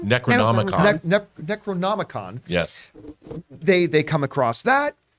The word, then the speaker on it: Necronomicon: They stumble across the I always mispronounce or try to say out loud. Necronomicon? Necronomicon.